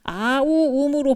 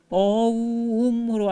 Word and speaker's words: 옴: 유튜브 이렇게 보시면 아우음으로 발음하는 경우도 있는데 어우음으로 하시면 몸에 진동이 오는 부분이 좀 달라져요.